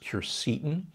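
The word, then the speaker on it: quercetin: a big fan of curse atone sometimes pronounced cure Seaton it's a compound that's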